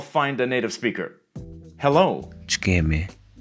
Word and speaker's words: Ç'kemi: Ç'kemi, Notice that this letter is pronounced as ch.